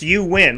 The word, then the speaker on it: Euan: But the fact that your name is spelled E-U-A-N, but it's pronounced you win, like you win.